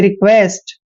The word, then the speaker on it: request: यहाँ पे ध्यान रखना है QUE आता है जब भी, तो QUE का उच्चारण हम क्वे करते हैं, क्वे यानी कि रिक्वेस्ट।